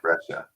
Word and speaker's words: Breccia: But I feel like what I've come to expect from Breccia is not this. And so it stood out even more to me. Yeah, it's fantastic. So it's Breccia, not Breccia. Yeah. Breccia.